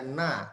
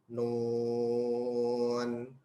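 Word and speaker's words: ن: Bukan dibaca na, tapi Nun. Ya. Itulah tadi kurang lebih 14 cara baca di awal surah ya yang mesti kita ketahui cara membacanya dan terdapat di beberapa surah.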